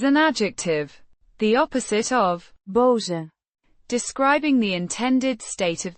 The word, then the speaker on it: boze: Boze Means angry or mad, pronounced boh-zeh. with a short O sound similar to the o in hot and a voiced z sound.